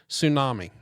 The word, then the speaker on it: tsunami: Um, tsunami. Okay. What's silent? The T.